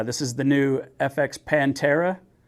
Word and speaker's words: Panthera: a treat uh this is the new FX Pantera spelled panthera but whatever or not they pronounce it Pantera panthera I'm just going to tell you right now the gun is called a Pantera and that's that there's no there's no change